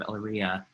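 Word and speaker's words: Elyria: mayor of of the city of eleria that's how you pronounce it please correctly ohio here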